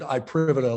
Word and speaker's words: iPrivata: And we pronounce it iPrivata, like IP, private IP.